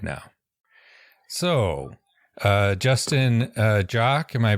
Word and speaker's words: Justin Joque: So, Justin Joque, am I pronouncing that correctly?